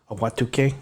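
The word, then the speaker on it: Ahwatukee: And it's Awatuke. Awatuke. Is that how you say it? Yeah.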